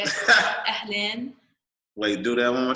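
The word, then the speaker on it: أهلاً: So it's like AHLEN. Ahlan. Ahlan. Len. Ahlan. Yeah. Like say like almost like lane. Len. Say it like LEN, like stretch the E.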